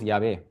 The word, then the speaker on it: Yahvé: Entonces, entre Yahvé y Jehová, ¿cuál es el correcto? Diríamos Yahvé.